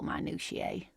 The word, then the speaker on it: minutiae: But I shouldn't bore you with entomological minutiae. Minutiae? Wow, 4 syllables.